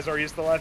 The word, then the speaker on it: Zoroastrian: Is that how you pronounce it? Yeah, Zoroastrian.